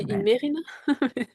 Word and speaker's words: Imerina: Le Palais d'Imerina, je sais pas si je le prononce correctement Elina. C'est ça. On dit Imerina. Imerina, Imerina.